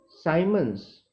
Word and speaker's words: Siemens: देखिए, SI unit of G इज साइमन्स। इसकी spelling देखिए आप, SIEMENS, साइमन्स पढ़ेंगे इसको। डिनोटेड बाय, ये सिंबल क्या है बच्चों, S है, विच इज इक्वल टू पर ओहम।